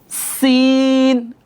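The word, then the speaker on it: سين: এরপর সিন, আমার সাথে বলেন সিন। সিন যখন আমরা বলবো, সিন বলার পর একটু বাতাস বের হবে।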